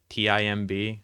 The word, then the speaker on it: Timb: I think it's Timb is how he pronounces his name. It's Timb. I'm thinking of it kind of like Timberlands, you know, Tim's.